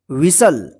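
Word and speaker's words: whistle: पे तो यहां पर जो है ना टी साइलेंट रहेगा हसल का मतलब होता है धक्के लगाना ठीक है ना विसल विसल का मतलब होता है सीटी विसल डब्लू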